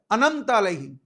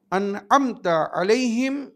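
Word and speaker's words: أَنْعَمْتَ عَلَيْهِمْ: সিরাতাল্লাজিনা আলাইহিম মনে রাখবেন কেউ যদি তাড়াতাড়ি বলে আনমতা আলাইহিম যেটা অধিকাংশরা ভুল করে বলে আনাম আলাইহিম তার মানে যাকে আপনি শুয়ে দিয়েছেন ঘুম পাড়িয়ে দিয়েছেন না আনতা আলাইহিম যার উপরে আপনি নেয়ামত নাযিল করেছেন মনে রাখবেন তো সিরাতাল মুস্তাকিম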